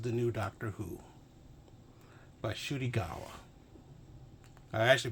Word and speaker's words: Ncuti Gatwa: As you can see right here, this is the new Doctor Who by Ncuti Gatwa. I actually pronounced his name correctly this time.